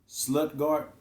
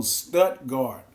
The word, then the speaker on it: Stuttgart: Not with a T, not an L. Oh, Stuttgart. Oh, my bad. Stuttgart, okay.